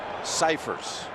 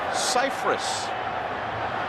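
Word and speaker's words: Scifres: to clarify that actually all these years everyone's pronounced his last name incorrectly it's Cyprus so beware we're going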